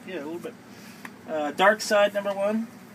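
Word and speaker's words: Darkseid: dark side number one i've heard people pronounce it dark seed hey and i get it it's actually if you technically think about it it's the last vowel so it would be the i would be the one that you would pronounce anyway uh this i got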